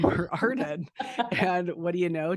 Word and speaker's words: Arden: And I thought, oh my gosh, if I ever have a daughter, I'm going to name her Arden.